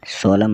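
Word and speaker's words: solemn: बददुआ देना एस ओ एल ई एम एन सोलम मतलब गंभीर एच वाई एम एन मतलब हिम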